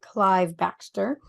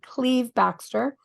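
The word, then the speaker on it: Cleve Backster: Look up Cleve Baxter, or most people would pronounce it Clive Baxter. But I learned this from IMEC the other day. It's actually Cleve Baxter.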